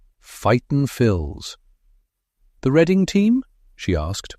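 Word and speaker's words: Fightin Phils: Fight and Phils," he said proudly, pronouncing it like one word. "Fighton Phils."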